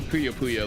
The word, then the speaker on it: Puyo Puyo: So definitely Puyo Puyo though. Yeah, it's literally how it's pronounced. I I don't care how much you want to deny it.